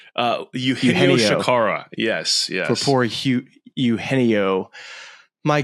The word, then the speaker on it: Eugenio Chacarra: play right now for poor, how do you pronounce his name? Eugenio Chacarra.